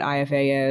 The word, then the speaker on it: Aeffe: It was for listeners, will you tell them what IFA is? Yes, IFA is spelled AEFFE.